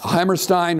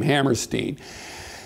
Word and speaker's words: Hammerstein: of course was uh he actually pronounced it Hammerstein I I'm sorry I I've written six books on Leonard Bernstein and of course Bernstein insisted on Stein so I seem to be Stein instead of Steen but he was actually he pronounced his name Hammerstein anyway they're both uh